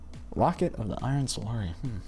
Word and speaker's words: Locket of the Iron Solari: So that, along with his ridiculous amount of Iron of the Locket of the Iron Solari.